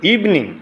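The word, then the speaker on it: evening: American উচ্চারণ এরপর cricket ইভিনিং না ইভনিং ইভনিং এটা আমরা ভুল করি ইভিনিং উচ্চারণ নাই ইভনিং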